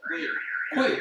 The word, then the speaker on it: queer: Sí, es que es LGBT, ahí están los binarios, pero el Q, ¿cómo es que se pronuncia? Queer.